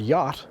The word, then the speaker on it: yacht: if you think about the word yacht and how it's spelled y-a-c-h-d it's not spelled how it sounds so when we look